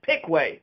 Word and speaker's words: Piqua: One caveat, in Piqua, Kentucky, they pronounce it Pickway because, of course, they do.